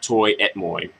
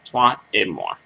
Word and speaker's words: toi et moi: And, just the FYI, it's not Toi et Moi, it's French, so you have to pronounce it, like the French, like French speakers do, Toi et Moi.